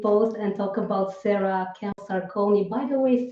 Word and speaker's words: Camposarcone: and talk about sarah kemp sarcone by the way sarah am i pronouncing your name right is it sarah kepler sarcone yes sarah has been teaching